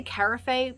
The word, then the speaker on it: carafe: on in my channel someone said it's like saying giraffe so craft craft am I right anyway it was only two dollars and the little sticker says 1982.